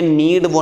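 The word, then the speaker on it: knead: है यह नीड है इसमें के साइलेंट होता है शुभेंदु के साइलेंट फाइन में और अगर आप ज्यादा चाहते हो तो ध्यान रखो जब भी कभी कैसे कोई शब्द शुरू होना चाहिए शुरू और इसके बाद में अगर एन है तो यह हंड्रेड परसेंट साइलेंट ही होगा कैसे शुरू हो इसके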